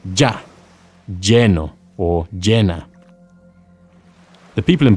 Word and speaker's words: lleno: Two L's in Spanish are pronounced as a Y sound, ya, yeah, or a sh sound, or even a j sound. They are all perfectly acceptable ways of pronouncing the double L.